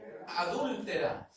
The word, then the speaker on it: adúltera: Adúltera. Tiene acento en la U, adúltera.